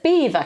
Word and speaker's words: Belvoir: is not Belvoir Castle it's beaver Castle as in the animal the beaver makes sense doesn't it